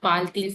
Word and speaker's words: parle-t-il: But pronunciation T और I को एक साथ पढ़ेंगे तो ये हो जाएगा parle-t-il français.